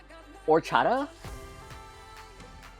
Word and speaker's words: horchata: The H is silent. It's rice and milk drink topped with cinnamon. Wait, the... Oh, it's... horchata?